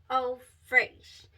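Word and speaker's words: Eau Fraîche: going to check out Good Girl Gone Bad Eau Fraiche.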